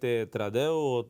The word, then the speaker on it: Trudeau: Por ahí estaba Macron, estaba también Trudeau o Trudeau, como lo pronuncian algunos en el caso del canadiense.